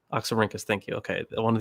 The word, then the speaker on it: Oxyrhynchus: So the earliest manuscript that we have, I forget the exact one, but it's one of the how do you pronounce it? Oxyrhynchus. Oxyrhynchus, thank you.